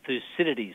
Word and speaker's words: Thucydides: The so-called Thucydides trap, if I pronounce Yes, that Thucydides, correctly.